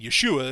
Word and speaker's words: Yeshua: Greek anyway um and Yeshua is how you say Joshua or yeah Yeshua is how it was originally pronounced you know in Hebrew uh so yeah